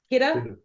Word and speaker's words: Kidde: It's KIDDE, kidda, ladder. Yeah, I always say kitty, and my captain's always like, you're pronouncing it wrong.